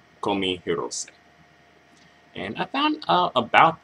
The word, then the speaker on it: Kohmi Hirose: by the name of Comey hirose I believe that's how you pronounce her name call me herose and I found out